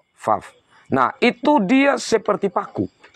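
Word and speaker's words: וָו: Yang Alef, Bet, Gimel, Dalet, He, Waw, atau Vav. Kalau cara bacanya, Vav.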